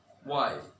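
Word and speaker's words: why: ও যদি না থাকে তাহলে এইচ এর উচ্চারণ হবে না, যেমন what, ওয়াই, when, war, etcetera.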